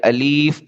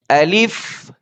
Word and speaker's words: الف: الف جو ہے یہ منہ کے اندر کا جو خالی حصہ ہوتا ہے وہاں سے یہ ادا ہوتا ہے.